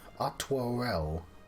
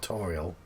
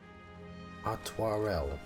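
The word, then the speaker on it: Artoirel: Well, I've been mispronouncing his name all the way through the game, then. Atwarel. Not Artorial. Atwarel.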